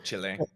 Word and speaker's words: Chile: way you say it c i l e Chile or Chile if you're speaking Spanish yeah yeah Chile or